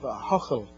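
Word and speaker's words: Ahoghill: the First Presbyterian Church in the town of Ahochel. I don't expect everyone to be able to pronounce that name.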